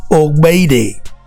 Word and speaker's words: Ogbede: This GBE in my language is gbe. Just like you see GBA, ba, a jagba. Yeah. You see? So how do you pronounce it again for me? This GBE is gbe.